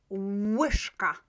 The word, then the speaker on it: łyżka: Łyżka, łyżka. It's always pronounced in this way.